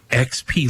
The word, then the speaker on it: Xp: I think you're just supposed to go with X and P. Yeah, XP Lee.